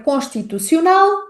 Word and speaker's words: constitucional: E temos ainda um último pequeno desafio, que é a pronúncia da letra L em fim de palavra, que vai ser a pronúncia L. L. Resumindo, sons desafiantes da palavra constitucional são o som, on um, o som, associado à letra s.